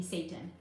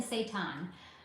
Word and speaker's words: seitan: Not to be confused with the way it could sound if someone said it wrong, which would be Satan. Not Satan, seitan.